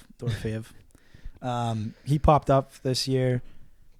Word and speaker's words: Dorofeyev: Dorofeyev.